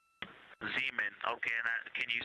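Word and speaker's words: Zeeman: We believe that that is Zemen Crater. Zean. Okay. And can you say the first letter? I may be pronouncing that wrong.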